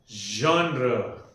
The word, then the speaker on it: genre: The There is a her sound or it sound associated with the z sound, the z sound, okay? So, it is called as genre.